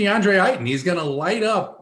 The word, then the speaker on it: DeAndre Ayton: slate is incredibly tasty the chat thinks i'm pronouncing his name wrong the chat is wrong imagine thinking that i care what you think about my pronunciation it's going to be deandre heighten he's going to light